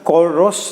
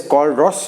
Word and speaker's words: Kohlrausch: अब देखो यहाँ पर टेक्स्ट बुक के अंदर कोलरॉस लॉ बोलते हैं, वो दिया हुआ है।